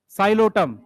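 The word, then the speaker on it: Psilotum: देखो कैसे पढ़ रहे हैं, पी साइलेंट है साइलोटम, पी साइलेंट है terrace, Dryopteris, Adiantum, azolla, Salvinia, इन सबको कहते हैं फर्न।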